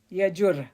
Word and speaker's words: Yajur: Yajur, that's how you say it.